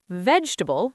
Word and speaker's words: vegetable: three soft th comfortable three syllables receipt silent p vegetable three syllables island silent s